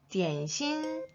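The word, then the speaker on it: 点心: 우리 홍콩 발음 어떻게 했죠? 그렇죠. 딤섬이라고 우린 더 익숙하죠. 중국 발음으로는 띠엔신.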